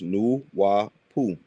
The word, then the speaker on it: Nwapu: The African pygmies existed before the flood great flood and their spiritual science was napu pronounced new wapu.